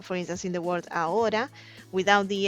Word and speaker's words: ahora: And so it that's why instead of saying "ahora" a lot of people says "aura". And yes, we also have the word "aura" which is "ora". But in you know, due to the context you know that they're meaning "ahora" which is now.